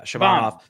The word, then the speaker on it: Shabanov: So, so to give some background um on this Shabbanov Shabban Shabban Shabbanov, yeah, Shabbanov Maxim Shabbanov, I believe is how you pronounce his name.